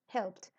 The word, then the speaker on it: helped: todos a todos estos cuando le agregamos Ed se pronuncia como una t ejemplo helped helped se pronuncia la p y la t helped entonces La idea es